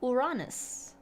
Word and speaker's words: Uranus: Yeah, it's the one planet that is still Greek, and the Greek pronunciation would be Uranus.